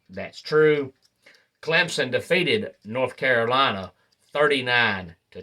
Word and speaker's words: Clemson: say it's seven letters it's two syllables and it's pronounced exactly like it's spelled and I could not tell you over the years how many announcers I've heard say Clemson and I'm thinking to